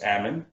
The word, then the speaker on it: Ammon: My name's Ammon, rhymes with salmon.